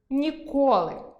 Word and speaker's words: ніколи: або застава); зАхват (піднесення, інтерес) і захвАт (дія); нікОли (це не відбудеться ніколи) і нІколи (мені ніколи це прочитати).